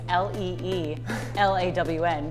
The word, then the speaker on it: Lilan: of the ADEs wearing a name tag that says hello my name is le e la WN because people had such a hard time pronouncing my name right that is super awesome